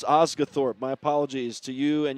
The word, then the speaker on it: Osgathorp: Osgorp. I finally heard it said. I stopped long enough to hear it said, so I've been giving it a long O instead of the short O, but it's Osgathorp.